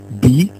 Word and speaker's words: bille: Des mots comme bi et ville s'écrivent de la même façon, il. Cependant, ils ont une prononciation différente. On dit bi et ville.